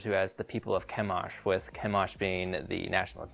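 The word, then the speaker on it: Chemosh: put down the moabites the vowels added to the make the word kemash are the same as the word for stench the original vowels of the deity's name would have meant it was actually pronounced something more like kamash or kamas the inference is clear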